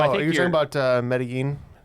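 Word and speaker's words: Medellín: And I know it's not pronounced medallion, but I know it's spelled almost like medallion. Well, I think you're talking about Medellin? Medellin, yeah.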